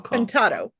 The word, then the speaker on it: Contatto: Contatto. Contatto, there we go. Potato, contatto. Contatto.